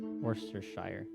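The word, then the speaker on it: Worcestershire: to say it Worster cuz I feel like they just like completely leave out like half of the letters that are in the word one of the guys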